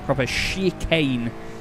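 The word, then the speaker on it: Schikane: it's s-c-h-i-k-n sorry k-a-n-e proper she Kane not like the sort of more French sounding spelling of it is c-h-i-c it's full-on German spelling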